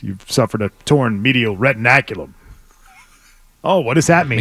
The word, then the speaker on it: retinaculum: that what it is retin retinaculum sound yes that's the way it's uh pronunciated retinaculum yes retinaculum a torn